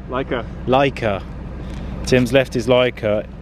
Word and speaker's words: Leica: Lechia, Lessia? Leica.